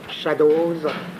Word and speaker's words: Shadows: Lui aussi, ça part par un certain nombre de films, dont le plus célèbre est Shadows, c'est comme ça que ça se prononce, Shadows, qui est particulièrement célèbre, et qui prétend être quoi?